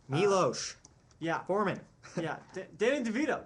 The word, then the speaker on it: Miloš: Miloš Yeah. Forman. Yeah. Danny DeVito makes his. It's pronounced Miloš.